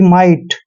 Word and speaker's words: might: और ये भी आपको मैं बता दूं कि टी से पहले जब भी GH आता है तो GH हमेशा वहां पे साइलेंट रहता है।